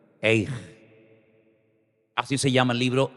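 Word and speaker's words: איך: ¿Cómo se dice cómo en hebreo? Eij. Dígalo conmigo. Eij.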